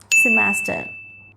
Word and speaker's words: semester: If I break down the word, I find 3 syllables over here. Se-mas-ter. So the pronunciation should be semester, not semester.